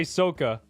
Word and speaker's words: Soka: No, I'm going to say Soka. Because if I pronounce it like sock, S-O-C-K, like what you wear on your feet, followed by the letter A, it sounds wrong in my eyes.